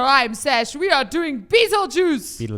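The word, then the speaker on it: Betelgeuse: I think and that basically is so you pronounce it Beetle Juice but it says constellation of stars like some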